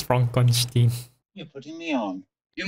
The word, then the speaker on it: Frankenstein: Frankenstein. It's Frankenstein. You're putting me on. You must be Igor. No, it's pronounced Igor.